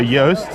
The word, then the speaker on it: Joost: So Yoast, as in Y-O-A-S-T, is how you pronounce my name if you're American. Yeah. Because my name, J-O-O-S-T, is not something Americans can pronounce in a proper way normally, because they don't understand how that works. Okay. Because the J is soft in Dutch, and the double O is a long O instead of becoming something else.